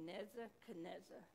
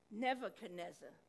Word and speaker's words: Nebuchadnezzar: faith now there was king neza canezza and i pronounced his name wrong nebuchadnezzar i don't know where